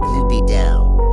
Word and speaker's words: lubido: First things first, let's get the pronunciation right. In classical Latin, it would have sounded something like lubido. Can you hear that? The U is long like in flute and the I is long like in machine.